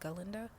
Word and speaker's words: Galinda: I don't know um he pronounced it Glenda and it was galinda and she had like